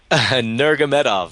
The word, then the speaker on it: Nurmagomedov: I have a hard time pronouncing his name. George actually has been practicing it. George, what's Khabib's name? Nurmagomedov.